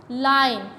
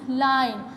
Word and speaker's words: LINE: तो अब एंड पे देखें वर्ड क्या बन रहा है, लाइन। कैसे, क्योंकि एंड पर हमारा साइलेंट ई आ रहा है, तो जो आई की साउंड होगी वो पूरी प्रोनाउंस होगी, ठीक है। जो जैसे विन में ई की साउंड थी, यहाँ पर आई की साउंड आएगी, ठीक है, LINE, लाइन, क्योंकि एंड पर क्या आ रहा है, साइलेंट ई आ रहा है।